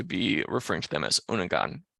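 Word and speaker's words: Unangax̂: referring to them as unangan or unanga uh which is how you pronounce this word by the way the x is shall we say mostly silent is the best way to explain that to an English speaker so unga or unengun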